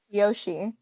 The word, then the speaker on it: Yoshi: right all along maybe in japanese it is pronounced yoshi there we go it's that easy so it's a real name it's like not a dinosaur it's a real name it's a two-syllable yeah that's two syllables yoshi perfect fun fact i'm